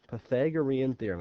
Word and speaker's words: Pythagorean theorem: you ever heard of the Pythagorean theorem before Pythagorean theorem that's how it's pronounced I bet you if he asked your